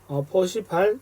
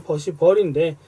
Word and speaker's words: Percival: 합니다만, 그래서 셔드 기준과 퍼시발 또는 퍼시벌인데 VAL이니까 그냥 퍼시발이라고 읽겠습니다.